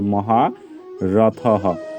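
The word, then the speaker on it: মহারথঃ: দ্রুপদ মহারথ এবং হচ্ছে বিসর্গটা দেখো একদম শব্দের শেষে আছে তাহলে তার পরিবর্তে আমরা কি করব হ এর মত উচ্চারিত করব তাহলে মহা রথহ তো আমরা সর্বশেষ আরেকবার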